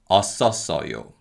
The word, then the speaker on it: 었었어요: Now, because of connective speech, the 쌍시옷 받침 in the first two syllables carry over to the following syllables. So they are pronounced 았었어요 and 었었어요.